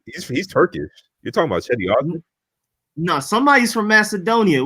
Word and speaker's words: Cedi Osman: Yeah, Cedi Osman. That's how you pronounce that, bro.